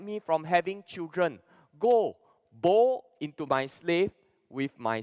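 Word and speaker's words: בוא: The Hebrew text, or the Hebrew pronunciation for came is bo.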